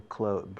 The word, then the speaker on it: clothes: Yo cuando digo ropa, digo clothes, lo pronuncio como cerrar la puerta. La TH no lo pronuncio, no digo clothes.